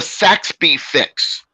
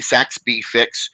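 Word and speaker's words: Saxbe fix: what does the rabbit say oh it's the Saxby fix s-a-x-b-e if you want to look it up s-a-x-b-e some people spell it with a Wyoming but it's actually technically with an E Saxby fix is named after a person they did it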